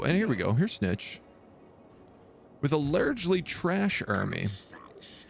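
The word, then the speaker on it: Snikch: Pronounce his name Snitch, so why there's a K in there. Snitch. I assume it has something to do with like the Skaven accent.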